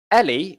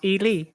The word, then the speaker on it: Eli: Is it Ellie, or how do you pronounce it? Eli. Eli. Both are wrong. It's Eli. Oh, there we go. So we were This both one, wrong. sorry. Eli. So like simply just Eli.